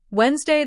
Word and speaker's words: Wednesday: While most of us don't say the D and pronounce it Wednesday, in the flow of conversation, we often crush it even further into just 2 syllables, making it Wednesday. The dictionary pronunciation is technically 3 syllables, Wednesday. But in reality, almost everyone in America says Wednesday.